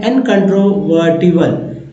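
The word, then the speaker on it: incontrovertible: सभी के सभी जो है यहाँ पर पार्ट्स ऑफ वर्ड हैं, जैसे इन है, कन है, ट्रो है, अर है और इवल है। अब ही और टी जो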